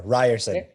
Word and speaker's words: Ryerson: He's also an instructor of Seneca College and, correct me if I'm wrong here, Ryerson? Did I say it right? Hamza? Almost there. Ryerson. Ryerson University. Rye like the beverage.